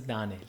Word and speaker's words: Danell: you actually say it i've been saying danelle to try and make it easier for everybody but you know what i'm kind of tired of doing that my name is dani that's how you say it okay moving on has